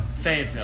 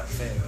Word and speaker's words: Fayetteville: I pronounced that right? Fayetteville. Fayetteville. Yeah, Fayetteville.